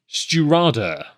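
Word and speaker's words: Stiùireadair: Anyway, STI accented U IREADAIR, pronounced Sturada. Yes, it's.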